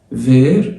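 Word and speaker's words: verts: فير اخضر اهو مفرد مذكر، لو حطينا اس فير التي والاس ما بيتنطقوش، بس كده بقت جمع مذكر.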